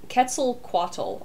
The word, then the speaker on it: Quetzalcoatl: because quetzal is yeah quetzalcoatl i believe is how it's pronounced okay i know i used to something yeah so because because q u is just a k there's no qua in oh you know like